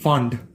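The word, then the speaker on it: Pfund: এবার আমার আসবে ফান্ড। 7 থেকে ওটা আসবে 5-এ, 6 থেকে 5-এ। পিটা সাইলেন্ট, আমি উচ্চারণ করবো এটা ফান্ড।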